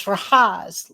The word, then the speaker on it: Rahaz: He said, "My real name is Rahaz, like rhymes with Oz, as in the Wizard of."